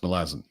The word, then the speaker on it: Malazan: were visually reading a book, except Malazan is pronounced Malazan.